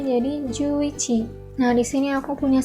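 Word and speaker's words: 十一: dan satu 10 itu Nganjuk satu Ichi jadi bacanya jadi juichi Nah di sini aku punya samri tapi karena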